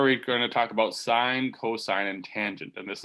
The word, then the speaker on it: sin: by each other so sine is spelled like this s-i-n-e but the abbreviation looks like this it looks like sin we'll still pronounce it sine so hold on we're